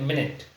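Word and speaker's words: minute: यहां पे ये देखिए इसका प्रोनंसिएशन जो है ना वो एक्चुअली मिनट मिनट कहते हैं जिसको हम इसका सही प्रोनंसिएशन है मिनट और यहां पे जो है ये इसका प्रोनंसिएशन है माइन्यूट दोनों की स्पेलिंग से में प्रोनंसिएशन अलग है बिल्कुल तो दोनों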